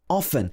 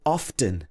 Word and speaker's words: often: So many dictionaries are still saying that they prefer the pronunciation often, without saying the T. But now, whether it's in British English or American English, you'll find that most dictionaries will accept both pronunciations, both often and often.